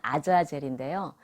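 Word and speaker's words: עזאזל: 왜냐하면 아사셀의 히브리어 발음은 아자젤인데요.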